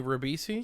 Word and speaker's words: Ribisi: Giovanni rivisi and this time instead of Giovanni Ribisi yes you said g never mind why did I say it wrong he said like Giovanni uh Breezy or something okay I'm gonna try it again Giovanni rabbisi it is a really hard name to say